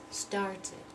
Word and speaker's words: started: rhythm sounded so sounded start and soon so I need to say started started want and Zinna teeth